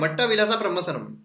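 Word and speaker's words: मत्तविलास प्रहसन: ठीक है, क्या है, धीरे धीरे प्रोनाउंस करते हैं। सबसे पहले तो मट्टा, ठीक है, मट्टा, उसके बाद विलस्सा, फिर उसके बाद प्रमसनम। ठीक है, मट्टा विलासा प्रमसनम, इस तरीके से आप याद रख सकते हो।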